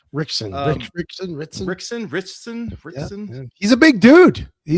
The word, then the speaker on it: Ritchson: Well, folks, just in case you haven't seen that one yet, that's Jack Reacher himself, Mr. Alan Ritchson, I believe it's pronounced. Rickson.